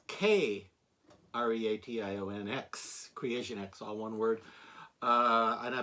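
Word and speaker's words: KreationX: They spell it with a K. It's K-R-E-A-T-I-O-N-X. Creation X, all one word.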